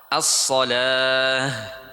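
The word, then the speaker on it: الصلاة: As-salah, bacanya as-salah.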